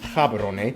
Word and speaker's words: Gaborone: If you speak Setswana, it's pronounced Gaborone, located close to the border of South Africa, and the country is divided into 9 districts.